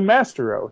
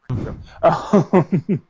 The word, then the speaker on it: Maestro: It's spelled Mastero. He's the Mastero. No, it's the Maestro.